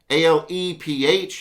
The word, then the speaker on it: Aleph: A-L-E-P-H. You can spell it A-L-E-F.